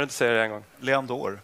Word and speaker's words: Leandoer: Uttalar jag namnet rätt? Leandour? Rätt nog. Kan du inte säga det en gång? Leandour. Leandour.